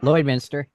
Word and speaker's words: Lloydminster: Is that how you pronounce that? Yep, Lloydminster.